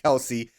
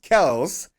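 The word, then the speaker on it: Kelce: and travis kells apparently his last name is not pronounced kelsey is pronounced kells are just that good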